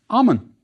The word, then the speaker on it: Amun: The first part of the king's name was pronounced Amun.